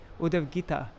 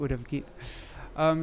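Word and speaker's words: Uddhava-gītā: Uddhava-gita. It's a long A at the end. I've been saying Uddhava-gita.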